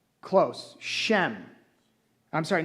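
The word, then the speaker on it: שם: the word name is Shem. That's I know it's pronounced s h a m e. I don't know why it is, but that's how it's spelled in the English, but it's actually pronounced shem.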